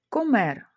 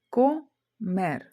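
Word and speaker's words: comer: Комер. Їсти. Поділимо це слово на склади. Комер. Останній склад у нас мер. Слово закінчується на приголосну, тобто не закінчується на голосну або ене есе. Як ми бачимо по цій табличці, наголос падає на останній склад.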